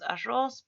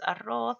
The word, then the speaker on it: arroz: Generalmente decimos arroz, pero es arroz, escasez, escasez, atroz, sandez, hizo, pizca, juez, emperatriz.